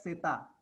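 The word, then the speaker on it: zeta: And Z is pronounced as Seta.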